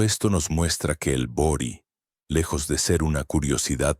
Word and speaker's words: bori: En la religión yoruba existe un ritual fundamental llamado bori con acento en la i, que significa literalmente alimentar la cabeza.